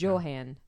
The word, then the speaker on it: Joanne: like Johan. Oh, Johan. How do you spell it? Well, it's spelled like Joan. Uh, So when I looked it up, it pronounced it as Johan.